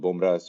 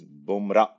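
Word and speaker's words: Bomra's: actually i was corrected the way to pronounce it is boomra because that guy who runs the restaurant his name is boomra but it is spelled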